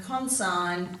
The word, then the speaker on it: consign: Our words today are nash, null, align, benign, consign, dane, reign, foreign, campaign and assignment. So in these words the G is silent and it usually comes before an N.